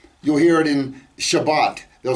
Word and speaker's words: Shabbat: sects of jews who pronounce the t sound at the end of a word as an s you'll hear it in shabbat they'll say shabbas or brit they'll call